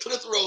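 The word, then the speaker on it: Clitheroe: country i mean you you you brought that clithrose that what is that where it was that's how you say it you brought that clithrow hot sauce baby all the way from newcastle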